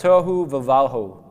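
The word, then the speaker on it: תֹהוּ וָבֹהוּ: actually this word called tohu vavahu. It's say that five times fast. Tohu vavahu. Tohu vavahu is how you say it.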